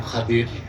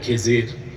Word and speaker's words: খাদির: আমার এক নেককার বান্দা তার নাম খাদির যারে আপনারা বলেন খিজির আমাদের দেশের লোক বলে এটা ভুল উচ্চারণ শুদ্ধ উচ্চারণ কি মুসা